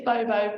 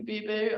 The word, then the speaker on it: Bobo: Just one thing I've noticed straight away is you call it Bobo, we would call it Boo Boo. Yeah, no, I don't mind how people pronounce it. To me, it's Bobo, but to somebody else, it might be Boo Boo.